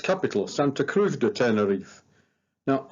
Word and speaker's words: Tenerife: capital, Santa Cruz de Tenerife. Now, I am aware that the locals pronounce this Tenerife, but as we're also used to calling it Tenerife, I'm just going to stick with that.